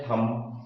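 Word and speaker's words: thumb: थम, ये बी क्या है? साइलेंट है।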